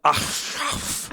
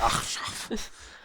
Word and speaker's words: Achshaph: Yeah, Ashraf. This is spelled ACHSHAPH. It's hard. Shop.